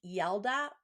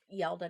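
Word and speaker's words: Yalda: in my research um forgive me if I pronounce it wrong yelda y-a-l-d-a night uh ancient Iranians called This yelda Night to celebrate the longest and Darkest Night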